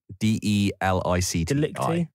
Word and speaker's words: Delicti: How do you pronounce that? D-E-L-I-C-T-I. Delicti.